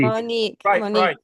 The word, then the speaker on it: Monique: Monique, rhymes with unique.